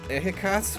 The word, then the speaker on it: Ehecatl: The L's usually silent from what I hear, so I guess, ehikats, which is wind. Well, most people who don't know the language do pronounce the L, but here's the, Huixtoctequatl, it's the god of salt.